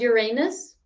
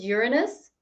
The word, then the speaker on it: Uranus: you realize that um the pronunciation of uh the planet after saturn has changed in the last like decade or so because like before it used to be called uranus and now it's called uranus yes i wonder why